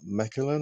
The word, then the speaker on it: Mechelen: We spent a nice afternoon in Mechelen, I think it's pronounced.